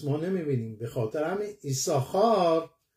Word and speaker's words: יששכר: به خاطر همین ایساخار در نوشتن می نویسیم دو تا سین، یه ساخار واقعا وجود داره ولی تلفظ نمی کنیم، ما نمی بینیمش.